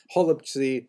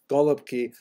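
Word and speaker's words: голубці: Holubtsi, right? Some people would say with the German, with the Russian pronunciation, Golubki, which is cabbage rolls, right?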